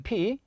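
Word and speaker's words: φῖ: 관계식 은 이렇고 , 만약 이걸 "f" 라고 발음 하면 설명 할 수가 없어 요 . 음역 하면 PH 가 됩니다 . 사실 , 그것 은 "p" 소리 뒤 에 "h" 소리 가 붙어서 "phi" 가 되는 것 입니다 .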